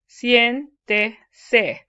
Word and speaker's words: siéntese: See the E there? Siéntese. So it's 1 to 3rd from the last syllable is stressed, so you'd always write a written accent on that.